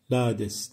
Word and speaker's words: Lades: Öyle bir hatam varsa onu başka bir vesile düzeltirim ama şu andaki kayıtta Lades diye okuyorum. Tabi bu bazı yörelerde Nades diye ya da Nades diye de telaffuz ediliyormuş.